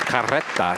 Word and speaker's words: carreta: Congratulations, Remember, Mina, these words have been anglicized, so in authentic Espanol, that's carreta. You have the Right. roll of the R's that tells you there's two.